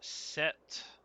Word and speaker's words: Sept: Also, uh if you wonder, set, that's how we pronounce it. S E PT, that means seven in French.